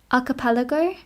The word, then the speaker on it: Archipelago: Sorry, I've just seen um Carol has like texted me how to pronounce it and it is arapelago. Archipelago with the Archipelago.